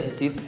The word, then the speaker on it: Recife: Is it Recife? Is that how you say it? Yes. Yeah, I wrote I Can't